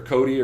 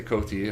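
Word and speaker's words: COTI: It's either Cody or Coty. I say Coty, I pronounce the T, but definitely, wow, what a monster.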